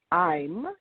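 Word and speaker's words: Eim: So I'm, it sounds just like I'm, almost like I am, but, you know, what's that in that conjugated form? It's spelled E-I-M.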